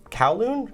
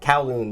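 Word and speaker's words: Kowloon: of of you said cowon cowon callon I mean I that also might just be the the bad pronunciation but that's how it's always been pronounced to me so callon we're outside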